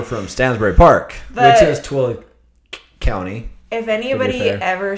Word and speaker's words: Tooele: And she's like, are you from Tooele in Utah? And I'm like, no, we don't claim Tooele. We're from Stansbury Park, which is Tooele County.